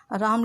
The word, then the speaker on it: रामः: तो जो विसर्ग लगाते हैं हम उसका उच्चारण करते समय हमारे मुंह से आवाज़ ह की निकलती है, लेकिन हम वहाँ पर ह नहीं लिखते हैं, वहाँ पर हमारा संस्कृत में विसर्ग लिखा होता है।